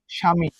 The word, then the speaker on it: স্বামী: স্বামী যেটা ছিল, উচ্চারণটা কি হবে তালব্যস্বয় আকার ময়ের অক্ষরী, স্বামী।